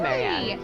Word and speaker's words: Marian: But it is pronounced Marianne, yeah.